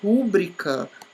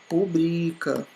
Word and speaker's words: rubrica: Então, olha aqui, o certo, gente, não é rúbrica, como tá dizendo aqui, rúbrica, não é rúbrica, e não tem esse acento aqui, tá bom? O correto é rubrica, tá? É este aqui que é o certo.